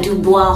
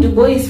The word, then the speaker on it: Dubois: And also because I did French, I happen to know that there are certain names that have that O-I that are pronounced as wa, like Francois. So saying Dubois for me just seems very off.